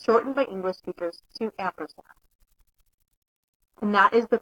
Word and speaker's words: ampersand: The correct syntax for representing an entity is the ampersand symbol, the name of the entity, and a semicolon, or the ampersand symbol, number, and a semicolon.